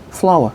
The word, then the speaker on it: flour: flour. 그렇죠. 꽃 아닙니다. 발음만 똑같고요. flour는 밀가루죠.